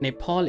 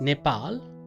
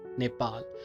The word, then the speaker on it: Nepal: the difference and when I say it's not Nepal it's Nepal it's because a lot of people outside Nepal they pronounce it as Nepal but the right pronunciation is not Nepal it's Nepal the PA sound and Pa sound are different